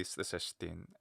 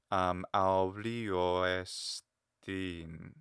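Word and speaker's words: ἐστίν: Because it's an enclitic word, the estin, and a lot of the final words, if it ends in a verb, it's probably ought not to be emphasized. So that being the case, I'm not going to give it a huge pitch variation. In fact, I'll probably just say estin. I'm not going to jump up. Estin. So you hear the fall.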